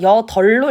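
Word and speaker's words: 여덟: 그러면 이거는요 우리가 여덜로 일요? 여으로 일러요. 맞아요. 여덜.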